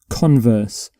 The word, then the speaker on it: converse: So for this particular word, you put the stress on the first syllable.